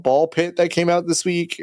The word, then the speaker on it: BALL x PIT: Um I'm interested in playing a game called Ball Pit that came out this week. Uh it is a It's like Hunter Hunter where you don't pronounce the X.